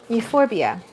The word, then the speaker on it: Euphorbia: Spurge is a how would you pronounce that? Euphorbia? Euphorbia, okay.